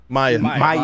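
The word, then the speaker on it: Mýa: Not MIA. Is it pronounced yeah. Mia? Maya.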